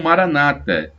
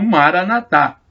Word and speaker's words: Maranatá: Muitos falam Maranata, mas os católicos pronunciam Maranatá.